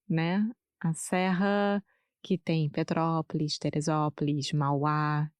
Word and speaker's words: Petrópolis: Petrópolis. Todos esses nomes, Petrópolis, Teresópolis, são bem difíceis para mim. Sim, Petrópolis. mas é só pensar em petróleo. E aí, Petrópolis.